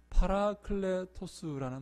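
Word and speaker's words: παράκλητος: 헬라어로는 이 말이 무슨 말인가 하면 파라클레토스라는 말입니다. 파라클레토스. 우리 한번 따라해 볼까요? 파라클레토스. 한번 해봅니다. 파라클레토스. 네, 너무 발음 좋습니다.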